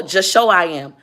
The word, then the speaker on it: JUSHOWIAM: It is JUSHOWIAM. Just show. Oh, just show I am.